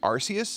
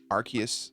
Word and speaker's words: Arceus: made my all day it's pronounced arceus and i will die on this hill arceus all right who gives